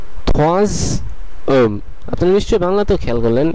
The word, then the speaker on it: troisième: Silent হয়ে যাওয়ার কারণে এসটার উচ্চারণ এস আর থাকবে না, বরং এটির উচ্চারণ জেড এর মতন হয়ে যাবে। এই কারণে এটির পুরো উচ্চারণটি হবে troisième, troisième, troisième।